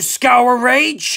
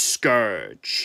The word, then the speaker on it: Scourge: Thank you, Scour Rage! It's Scourge. No, I'm pretty sure it's Scour Rage. Scourge! Scour Rage!